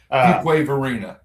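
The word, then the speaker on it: Fuquay-Varina: Say pronounce the city so I don't butcher it. Fugwave Verina. Fugquway Verina.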